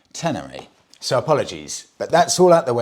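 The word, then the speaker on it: Ténéré: pulled up on this I was pronouncing the Yamaha tener wrong as well it's the Yamaha tener so apologies but that's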